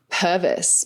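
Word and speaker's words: Purves: So my maiden name is actually Purvis, but it's spelt Pervs.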